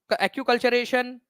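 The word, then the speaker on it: acculturation: तो कल्चरल RAM, acute कल्चरेशन, ठीक है, एनकल्चरेशन क्या कहा जाता है, तो एक्कल्चरेशन या एक्यूकल्चरेशन इसको बोलते हैं आप लोग, एक्यूकल्चरेशन इसका करेक्ट प्रोनाउंसिएशन है, ठीक है, पर संस्कृतिकरण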